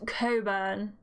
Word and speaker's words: Cockburn: says my name's cockburn gary stifles his laughter behind her hand priya lets out a small giggle while lottie smirks it's pronounced coburn burn i certainly